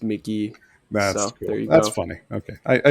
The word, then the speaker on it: Mk.gee: has an EP title it's pronounced Mickey that's funny okay I